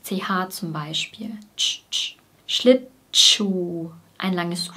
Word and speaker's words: Schlittschuh: Wir trennen die Silben Schlittschuhlaufen nicht so extrem, sondern wir verbinden die ersten beiden Silben. Schlittschuh, sodass es wie Tschuh klingt.